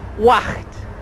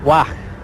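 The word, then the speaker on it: Waag: It's called Wacht. Well, I'm told that's how you pronounce it. W-A-A-G. Wacht.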